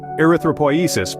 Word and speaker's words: erythropoiesis: Erythropoiesis, pronounced erythropoi, is your body's process of making red blood cells, erythrocytes.